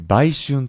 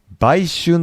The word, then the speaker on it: 売春: 実はね、売春って、え、読んだりもするんだけど、え、そうするとね、さっき言った売春と同じ発音になっちゃうよね。